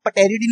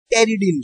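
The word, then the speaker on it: pteridine: Folic acid के अंदर जो रिंग प्रेजेंट होती है टेरिडीन, उसको पटेरिडीन नहीं पढ़ेंगे, it's correct pronunciation is टेरिडीन ring, और इसके साथ में हमारा प्रेजेंट होता है गाबा और ग्लूटामेट, ठीक है।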